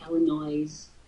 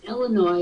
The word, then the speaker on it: Illinois: and by the way it drives me crazy when you say Illinois Illinois it's Illinois and that's the way it is doesn't it bother when